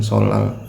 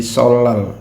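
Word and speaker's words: 설날: Tahun Baru Imlek yang orang Korea menyebutnya dengan solar ya walaupun ini huruf N ya Jika dia ada huruf real di sebelumnya Dia membacanya dibaca karya real ketemu Nin bacanya Elya Jadi solr bukan Soalnya soal Disini yang pertama ada unblocker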